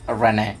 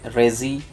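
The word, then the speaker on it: Reze: And it starts with her pronouncing re like Renee. Renee. Renee. What the is Renee? Just say Rezi. Re. Where did the N come from?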